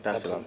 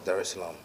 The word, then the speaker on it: Dar es Salaam: of the 7th, to come straight to Tanzania, Dar es Salaam. Did I pronounce that right? Yeah. Dar es Salaam. Okay, cool. Dar es Salaam.